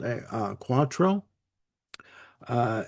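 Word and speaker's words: cuatro: uh great use of a of a guitar called a uh quattro. Uh it's spelled c u a t r o.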